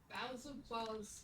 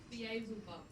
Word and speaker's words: Beelzebub: Balzibos is a demon. I know. I just know that's not how you say it. If you say it properly, you... Beelzebub.